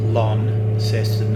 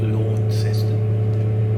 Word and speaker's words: Launceston: We're going from Launceston, and it's pronounced Launceston, not Launceston.